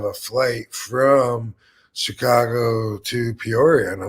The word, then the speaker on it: Peoria: I think you seem to take a syllable out of it when you say it. Yeah, I think I did. I got mush mouth with it. I think it's Peoria. Peoria.